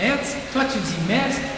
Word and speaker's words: Metz: Toi tu dis on est ici à Metz, toi tu dis Metz, Jean ils ne prononcent pas le T, toi tu le prononces, alors c'est quoi?